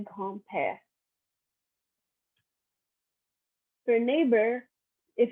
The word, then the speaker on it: grand-père: For a grandmother, you say grand-mère, and for grandfather, you say grand-père.